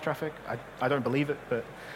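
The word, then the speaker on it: Traefik: Apparently, it's meant to be pronounced traffic.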